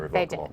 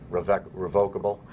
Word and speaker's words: revocable: You're obviously saying it right, revocable. Yep. And I say revocable. I say revocable. And people say it different ways.